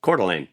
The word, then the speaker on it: Coeur d'Alene: Coeur d'Alene. That's not the way you should say it, by the way. No, it's very American, but it's written, for those who don't know, it's written in French.